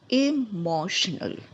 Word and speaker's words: emotional: first three letters stat stat the next one emotional emotional first notice that there is first e